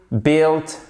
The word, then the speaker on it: built: Par exemple, to build, built, built. Donc, to build, built, built. Qu'est-ce qui se passe à chaque fois? La clé ici, c'est de ne pas prononcer le U.